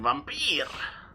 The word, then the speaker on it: Vampyr: be vampires read-through gonna I mean vamp here that's how you pronounce it um pause the recording